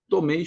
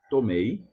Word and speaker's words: tomei: I always remember to when you see some words where you have e and e sound at the end, you have to let it sound on both. Tomei, tomei, not just tome, or tomei, tomei. They have to be like equal.